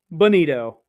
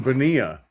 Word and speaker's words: Bonilla: Bonito. Yes. Yes. So, which I'm pretty sure we've passed it, but happy late Bonito Day, everybody. Yes. Oh, you mean Bonilla? Oh, did I pronounce it wrong?